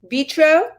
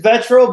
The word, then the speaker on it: Vetro: show here with vitro is am i pronouncing your name correctly it's vetro but don't worry everybody says it wrong retro retro okay by